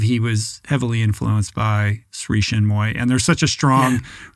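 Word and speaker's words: Sri Chinmoy: It's Sri Shinmoy. Sri Shinmoy.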